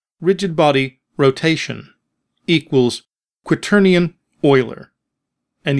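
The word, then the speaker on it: Euler: body rotation equals querian Oiler and yes it is pronounced Oiler which is also an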